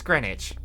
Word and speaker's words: Greenwich: think I think it's Greenwich like I think the W is silent foreign foreign over here